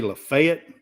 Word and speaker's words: Lafayette: Lots of people say Lafayette, but Lafayette is the proper pronunciation. It's the proper French pronunciation, right.